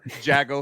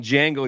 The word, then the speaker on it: Jango: Yeah, I know I'm bad at pronouncing, names. Tony knows, but he knows, you know. Jago Fett. I'm watching this video and he keeps calling Django That Jago.